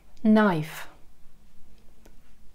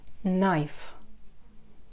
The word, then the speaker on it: knife: чашка cup кап нож knife на из посмотрите кей не читается перед н knife и блюдца соса соуса